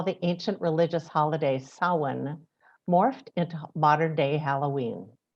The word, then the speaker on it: Samhain: harvest festival it's spelled like this it um s-a-m-h-a-i-n and pronounced samhain it likely began in what is